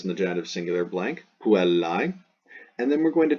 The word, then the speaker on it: puellae: Then the AE pronounced I. This is very important. So this is the genitive singular ending, goes in the genitive singular blank, puellae.